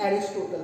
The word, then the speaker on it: Aristotle: तो एरिस्टोटल, ये एरिस्टोटल है, ठीक है, हिंदी में इनको कहते हैं अरस्तु, अगर आपने इनका नाम पहले सुना हो तो। इन्हें अरस्तु बोलते हैं, पर इंग्लिश इनका प्रोनाउंसिएशन एरिस्टोटल है।